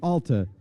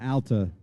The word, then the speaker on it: Alta: interesting that Al ala or Alta means tall female in Spanish and it's correctly pronunciated is Alta but we just said the heck with that we're going Alta and it's kind of